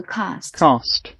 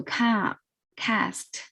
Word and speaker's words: cast: 不一样的，英式的读 cast，然后美式读 cast，然后它当